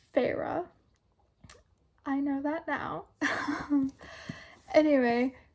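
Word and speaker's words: Feyre: video I called her Fair because that's what that's that's what the spelling looks like that's what it looks like to me it looks like Fair okay but it's pronounced Farah I know that now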